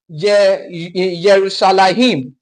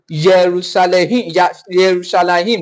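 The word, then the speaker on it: ירושלים: Jerusalem is pronounced Yerushalayim in Hebrew. Yerushalayim rather.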